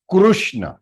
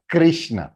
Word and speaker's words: कृष्ण: It is Krishna, not Krishna. Kri बोलेंगे तो कृष्ण, लेकिन कृष्ण is the right pronunciation in Sanskrit.